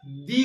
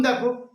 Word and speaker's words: the: এর উচ্চারণ কিন্তু বন্ধুরা আমরা করবো দা ক্যাট দি ক্যাট বলবো না কারণ এটা যে শব্দের